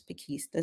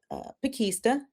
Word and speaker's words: Pakesta: my husband really prefers Pakesta, so we're going to keep Pakesta. And the way you remember it is a package at Easter is Pakesta.